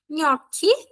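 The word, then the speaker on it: gnocchi: Pronúncia GN tem um som igual ao de NH, tá? NH. Vamos colocar algumas palavras aí com esse som, tá? Nhoque. Nhoque. Que é o nosso nhoque.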